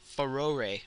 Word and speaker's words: Farore: we have collected uh pharoh wind or I think that's how you say it it's actually uh feror I guess is how you're supposed to say it I'm not sure either way this is the